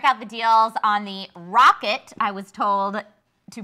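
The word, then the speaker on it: Roccat: deals page, check out the deals on the Rocket, I was told to pronounce it that way. With the 3 different pronunciations between the Newegg ninjas, I'd always heard Rock Cat. I'd always heard Rocat.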